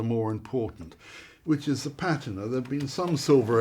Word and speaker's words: patina: it patina or patina? I mean... Patina. Patina, Patina is tomato. usual, but when anyone accuses me of mispronouncing anything, I say, yes, you're quite right, it's a rather archaic pronunciation.